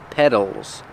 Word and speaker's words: petals: are petals that's right we spell it with a t but it's pronounced with the fast D sound petals petals the flower has